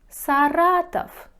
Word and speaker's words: Саратов: да говорите то город саратов саратов пишите в говорите саратов саратов клуб клуб пишите